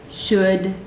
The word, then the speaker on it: should: Could, would, should. They're all these words that rhyme.